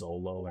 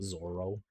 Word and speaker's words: Zoro: to my friends why his name is Zolo and not Zoro but everybody calls him Zoro so I'll go with Zoro it's just the like the the cannot pronounce L's I love how Whimsical